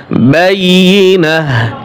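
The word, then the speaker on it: بينة: বাইয়িনাহ এখানে গোলতা ওকফের সময় হা উচ্চারণ হবে, একটু মনে রাখবেন, গোলতা ওকফের সময় হা উচ্চারণ হয়।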